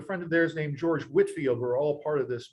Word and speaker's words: Whitefield: And so he and his brother Charles, along with a friend of theirs named George Whitfield, were all part of this movement. Whitfield is spelled Whitefield, but it's pronounced Whitfield.